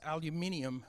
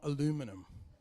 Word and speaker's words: aluminium: want to clarify something it's pronounced aluminium not aluminum okay so you're going to